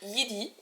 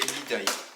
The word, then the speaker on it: Yeedi: Il s'appelle Yidi ou Yidai, je sais pas trop en fait comment ça se prononce, mais moi je l'appelle Yidi. Mais c'est Yidai. Et Alex dit Yidai.